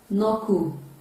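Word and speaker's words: knob: that spelling is silent it is pronounced as k-n-o-b which is no they decay in that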